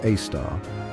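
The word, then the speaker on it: Sagittarius A*: Our galaxy's central black hole, Sagittarius A, pronounced A star, has a mass of over 4 million suns.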